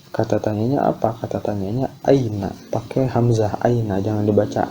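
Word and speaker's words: أين: Kalau aina pakai ain itu artinya mata. Ya, ain itu artinya mata atau penyakit dan sebagainya, memang banyak ya maknanya. Cuma makna dasarnya adalah mata gitu. Nah, jadi pakai hamzah bacanya aina, aina artinya di mana?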